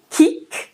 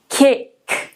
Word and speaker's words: cake: Então, não é kick, mas cake. Cake. Cake. Esse I fechado, é quase um I com circunflexo.